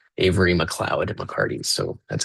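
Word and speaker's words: MacLeod: Um I used to say Muoid but I had someone who was in class one time a student who was from Scotland and he said that that's pronounced Mloud Avery Mloud at McCarti.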